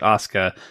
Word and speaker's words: Asuka: goes by the name Asuka, and it's But you don't really pronounce the U. So, it's just it's it's kind of spelled similarly, but you just pronounce it Osuka.